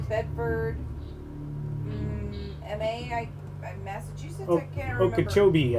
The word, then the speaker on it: Okeechobee: Okeechobee, I think is how you say that, by the way. Sorry. Yeah, Okeechobee, Florida.